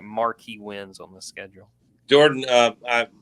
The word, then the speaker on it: Jordan: It's an old Welsh pronunciation, I think.